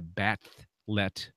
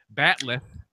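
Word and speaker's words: bat'leth: Let me try to focus here and explain what a batlet. I'm saying it wrong again. Batleth is.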